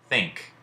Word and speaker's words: think: up with this think think we say think we say thing and add a K to it crazy right so in